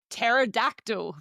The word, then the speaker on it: pterodactyl: We also have words like pterodactyl that starts with the P.